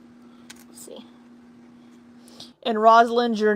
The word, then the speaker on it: Rosalind: Her name is Rosalind, spelled Rosalind, but pronounced Rosalind. Yeah. Did I say Rosalind? It's Rosalind. Yeah.